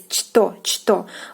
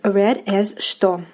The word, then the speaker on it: что: like as it is, chto. But you have to know that in Russian, in this word, the consonant ch is pronounced as sh.